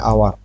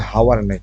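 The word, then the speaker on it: hour: পর এখানে দেখেন এন আওয়ার এখানে হাওয়ার না হচ্ছে আওয়ার মানে এচ এর পর ও থাকলে এখানে উচ্চারণটা আওয়ার এভাবে হবে আওয়ার মানে ঘন্টা উইথ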